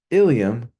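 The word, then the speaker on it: ileum: are a few examples ilam pronounced ilam refers to a bone in the pelvis iliam pronounced in the same way ilam is a segment of the small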